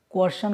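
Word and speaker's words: coercion: मां जो तो उसको बोलते हैं हम लोग क्वेश्चन बोलते हैं क्वेश्चन क्वेश्चन बोला जाता है और इसमें साइलेंट राहत है क्वेश्चन बोला जाता है इसको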